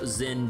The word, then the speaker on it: Jin: It's It's Jin. Damn it. No, no, no. I already I already had my crash moment over the whole Zen Jin pronunciation the other session.